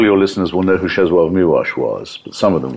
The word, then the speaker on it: Czesław Miłosz: Of the W's being, the being a special L in Polish. That's so you actually pronounce, it's spelled Czesław Miłosz, but it's pronounced Czesław Miłosz.